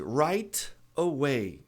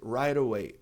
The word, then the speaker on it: right away: Então, R I GHT tem som de write ra e t. Então, se a gente juntar o a vogal a, a gente tem um T ladeado por vogal. Também não é nem sílaba, então vai ser right away.